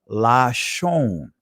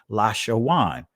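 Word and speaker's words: לשון: So how you pronounce this is Lashon, right? This is the Israeli pronunciation of it, right? But if you pronounced it from an ancient Hebrew perspective, it would be Lashawan, because there were no vowel letters, right?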